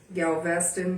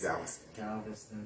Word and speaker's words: Galveston: Freedom finally came on June 19th, 1865 when some 2,000 for real Union troops arrived in Galveastston Bay, Texas. Galveston. Galveistston. I said it wrong.